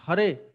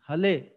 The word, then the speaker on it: Hare: They cannot pronounce Hare. They pronounce Hale. The R they pronounce as L.